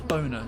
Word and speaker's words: Boehner: Everyone's like, oh, it's John Boehner. It's like, no, his name literally spells Boner. It's even got an E after the O to soften it to an O sound.